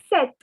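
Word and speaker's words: sept: word for seven is set now please take your colored pen and note that the p is silent so the pronunciation is set set so ah through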